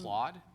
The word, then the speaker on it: Claude: Can you spell that again, Brad? I'm sorry. C L A U D E.